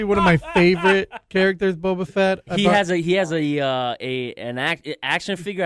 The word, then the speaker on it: Boba Fett: I'm still wondering if you should strike him from the book for this, with Boba Fett.